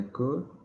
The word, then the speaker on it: could: So this actually sounds like could without the L.